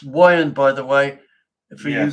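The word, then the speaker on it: Weiand: It's Wyandt, by the way, for you guys who pronounce it Wyandt. It's not Wyandt. It's Wyandt. Wyandt.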